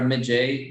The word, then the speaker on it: Magi: Magi or Magi, as it suits you better. There's no accurate pronounce because Magi is not often with interviews we do on the US and UK. Lots of people say Magi, so I think both suits okay.